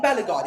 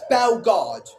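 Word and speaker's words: Bellegarde: Why do I keep saying Bellagard? It's Bellard. The E is silent in his name.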